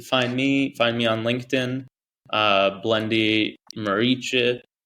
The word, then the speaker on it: Muriqi: Because in America, most people will say Muriqi, which is fine. You adopt the American way of saying it. But where I come from, I'm Albanian by origin. It's pronounced Muriqi.